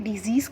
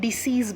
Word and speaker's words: disease: हम डिसीज़ बोलते हैं लेकिन उसका करेक्ट प्रोनाउंसिएशन डिजीज़ है।